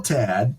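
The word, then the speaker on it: Tadt: yeah t Tad's identical cousin it's it's still Tad but the the first name is spelled differently yeah H in it no it's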